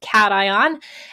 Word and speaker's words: cation: is called a cation I know it looks like occasion but it's pronounced cation and there is literally